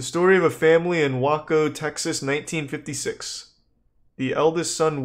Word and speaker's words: Waco: very much about it waco is that what it's called that's how you say it it's not wacko whatever it doesn't matter